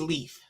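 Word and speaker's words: lief: Yeah, the word of the daily word is love, but the word of the day is leaf.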